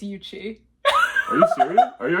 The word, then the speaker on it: Ucci: friend of mine GI iuchi GA would you like say introduce yourself first you said my name wrong how do I pronounce it's Uchi are you serious are